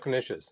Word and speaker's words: knish: city, they always have knishes, and I think, who eats knishes anymore? But you know what? They're kind of delicious. A knish itself is just Knishes rhymes with delicious.